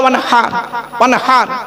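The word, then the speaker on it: وَانْحَرْ: ইন্না আতাইনাকাল কাউসার ফাসাল্লি লিরাব্বিকা ওয়ানহার। হাই হুটি, এই গলার ভেতর থেকে হে এটা উচ্চারণ করবেন।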